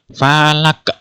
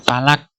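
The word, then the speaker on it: فلق: Qalqalah Oleh karena itu cara membacanya harus dengan cara memantul Falak tidak boleh palak tidak boleh ya jadi harus dengan memantul palak Hai yang kedua contohnya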